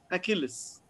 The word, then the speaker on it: Achilles: So for example, Achilles, the letter CH in Greek are pronounced as a K, Achilles.